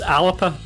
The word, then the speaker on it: Alba: alaba party alaba party well technically it's alapa but they pronounce it alba i'm going with abba